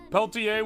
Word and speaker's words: Peltier: Peltier with a silent R.